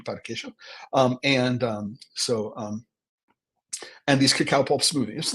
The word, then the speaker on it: pão de queijo: That's the Portuguese pronunciation, pão de queijo.